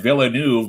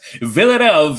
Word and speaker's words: Villeneuve: No, they would definitely laugh if we said Villeneuve, but we know it's Villeneuve Engineering Services, our good old buddy Eric Villeneuve.